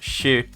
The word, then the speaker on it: Xu: So, this is actually pronounced shi retro cuz it's Chinese.